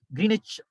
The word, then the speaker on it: Greenwich: That's the normal pronunciation. But I told you yesterday, W is silent. Greenwich Meridian Time.